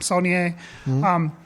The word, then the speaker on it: Saulnier: Saulnier.